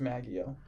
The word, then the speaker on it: Maggio: It's pronounced Maggio. Really? Yeah. I thought that was just you butchering an Italian name again. No. Because I do believe he pronounces it Maggio.